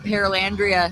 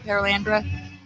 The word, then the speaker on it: Paralandra: People call it Paralandria, and I'm like, no, Paralandria. no, it's Paralandra. Paralandra.